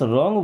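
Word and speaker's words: wrong: अब इस रॉन्ग word में डब्ल्यू साइलेंट होता है।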